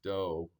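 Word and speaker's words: 道: It's pronounced do as in do rei.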